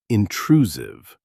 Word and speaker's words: intrusive: Word number three, intrusive. This means affecting someone's private life in an annoying or unwanted way. Pronunciation tip, the S sounds like a Z, intrusive.